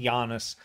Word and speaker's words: Yannis: video i'm doing janice's i believe his name is pronounced janus might be janus from beast in black's